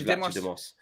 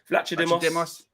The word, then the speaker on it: Vlachodimos: Yeah, it's got to be Vlachodimos. Vlachodimos.